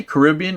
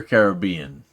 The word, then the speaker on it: Caribbean: Jack Sparrow do you guys say Caribbean or Caribbean I say Caribbean and I I don't know I i' I've heard it both ways and you would think a Cuban would know how to pronounce Caribbean I I just say Caribbean Depp has portrayed Jack